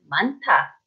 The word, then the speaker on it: 많다: So the way you would pronounce this is 많다, 많다, because of this 히읗.